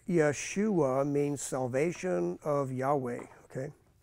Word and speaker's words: Jeshua: Okay, so so Jeshua, pronounced Yeshua, means salvation of Yahweh.